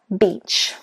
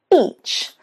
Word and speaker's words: beach: Think about beach, beach, E. Can you see the 2 dots? That means that it's a long sound, beach. What often, especially Italians and Spanish do, is they put a short E and it becomes I. Now, when you do this, instead of getting the word beach, you get the word, that's right, shall I say it?